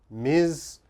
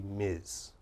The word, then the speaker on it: Ms: titles again for business you only need to know this one Miz and this one Mister any man is Mister and every woman should be Miz let's take a look